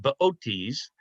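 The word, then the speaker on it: Boötes: I can't put an umlaut on there. It's pronounced Bootes.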